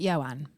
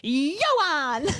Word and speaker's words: Ioan: And when I kept introducing him, I kept going, this is Ioan, like that, and like, ta-da! And he was just stood there like, oh my God. Ioan? So Ioan. You say it like that.